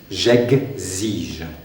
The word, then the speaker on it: j'exige: Il y a une liaison à faire ici entre ici, le X peut se prononcer de différentes façons, vous verrez ça plus tard au cours, soit S, soit G, Z, comme ici. J'exige.